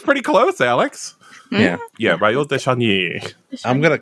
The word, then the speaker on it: Raoul de Chagny: Do you know how to pronounce his name? Jensie. Let me try. It's Raoul de Chagny.